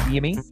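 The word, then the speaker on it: Yimi: Jimmy spelled with a Y, like Yimmy.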